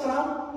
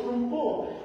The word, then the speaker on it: trumpo: So when my daughter saw the Tagalog for spinning top, oh, that's Trump? No, that's not Trump. It is spelled like his last name, but we call it in Tagalog, Trumpo.